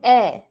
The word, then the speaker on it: heir: Pronunciation of the word an heir. So basically, H is silent. You just pronounce E-I-R, air.